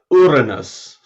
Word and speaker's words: Uranus: being rude to someone the only really feasible way of saying it that isn't rude is uranus which i've never heard anyone say so i don't know